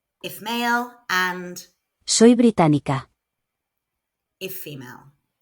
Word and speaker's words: británica: if male and Soy británica. if female. The stress falls on the syllable with the accent. Británico. Británica.